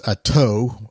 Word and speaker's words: Attaud: It's Attaud. It's a French thing that I would butcher if he had not told me that.